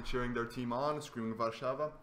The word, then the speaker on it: Warszawa: We're seeing the Warsaw Warrior bench finally cheering their team on, screaming Warszawa. Warszawa.